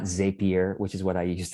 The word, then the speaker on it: Zapier: value from this session you know how to pronounce zapier now and you could lord it over others who keep saying zapier okay okay so um